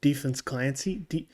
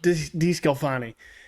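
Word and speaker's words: DeSclafani: Defense Clancy? DeScalfani? DeScalfani.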